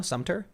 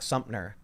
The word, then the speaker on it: Sumter: nope restless medic says thank you tim for saying sumpter correctly it irrationally irritated me as a southerner to hear you say it incorrectly did i just say it correctly now sumter i think i was saying it wrong before i sound like you've been saying it all the same yeah i thought the first video i said before i was saying like sumner oh oh okay like